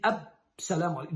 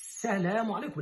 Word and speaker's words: as-salamu alaikum: No es Salamu alaikum, la palabra ya sabemos, salam es la paz. Y asa, porque la lam es solar. As-salamu, no pronunciamos la lam y doblamos la sin. As-salamu alaikum. Así muy claro.